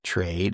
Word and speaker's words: Trayd: Now, it's not spelled the same way that you would spell Trade, but it's T R A Y D Trade.